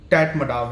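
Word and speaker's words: Tatmadaw: Myanmar की जो armed forces हैं उनका जो ऑफिशियल नेम है वो टैट मडाव है। I think this is the pronunciation.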